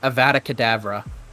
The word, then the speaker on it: Avada Kedavra: good in America here John say it like an American Avada Kedavra there you go all right